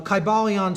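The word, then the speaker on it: Kybalion: y sounds you know it would have been a long i sound chi ba leon and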